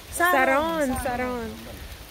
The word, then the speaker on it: sarong: How do you pronounce it? Sagan? Sagan? Skirt? Sarong.